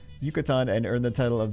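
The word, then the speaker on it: Yucatán: I was going to call it Yucatan. And then I was like, wait a second, that's not how that's pronounced. Yucatan and earn the title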